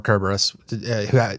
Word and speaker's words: Cerberus: since we've talked about cerberus enough or kerberos depending on how pretentious you want to be um whether or not you put a hard c on that i should point out